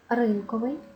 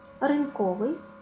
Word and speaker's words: ринковий: часто можна почути новий ринковий одноразовий але українською мовою буде новий ринковий тому що перевірочне слово ринок у слові ринок наголос падає на перший склад значить і ринкови буде мати наголос на першому складі одноразовий посуд одноразовий і